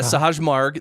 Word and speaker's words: Sahaj Marg: Yeah, Sahaj Marg.